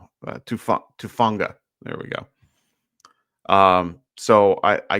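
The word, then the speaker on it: Hufanga: He will be going against guys like Fred Warner and I always get his name wrong. Tufanga. Tufanga.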